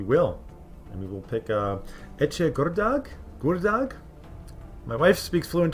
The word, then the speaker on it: Ece: I think the C is pronounced like a che. So Ece Gurdag.